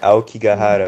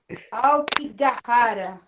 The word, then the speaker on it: Aokigahara: Aí, Aokigahara é o nome. Aokigahara.